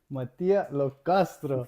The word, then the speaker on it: Mattia Lo Castro: And today we are with Matia Locastro. Good pronunciation.